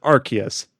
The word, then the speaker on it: Arceus: We'll talk about them later in the podcast, where they do pronounce it Arceus.